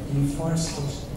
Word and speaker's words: deforestation: Oh, and you could also focus on the stress. So deforestation, where's the stress, guys? 1, 2, 3, 4. 2. Deforestation. 3.